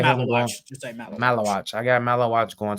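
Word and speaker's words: Maluach: I cannot pronounce his name at all. Malawach. Yeah. Just say Malawach.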